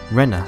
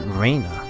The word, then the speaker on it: Rena: you're re Rena ryugu right Rena not Raina that's how I was pronouncing before wasn't it actually or was